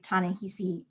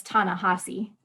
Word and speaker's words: Ta-Nehisi: world and me by tanejisi coates um sorry i mispronounced it it's tana hassi i keep getting that wrong uh so tanahasi codes between the world